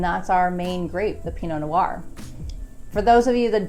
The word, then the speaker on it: Pinot Noir: it the Pinot Noir, but it is correctly pronounced Pinot Noir.